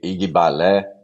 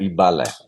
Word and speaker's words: Igbalé: orixá dentro do Balé algumas pessoas chamam de igbalé mas a pronúncia é i balé Ok então o que